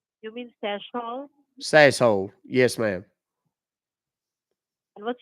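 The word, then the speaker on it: Sassohl: SS o h l it's pronounced can you repeat your last name please yeah s a s s o h l you mean sashole sashole yes ma'am and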